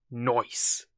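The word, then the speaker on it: Noyce: how you pronounce that it's like animal Yee so I'm presuming it's pronounced noise it's from 1999 for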